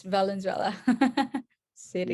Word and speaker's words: Valenzuela: confused with Venezuela, but the country, but Yeah, yeah, it's Valenzuela city.